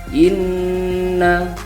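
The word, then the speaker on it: إنّ: selama dua ketukan kemudian satu lagi ini huruf bertasydid ditekan dan dibaca berdengung selama dua ketukan Inna itu ya dibaca Inna syaniaka huwal abtar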